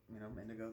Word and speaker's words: Indego: Nowadays it's just Indigo, the color, whatever, and we just spell it weird because we're weird.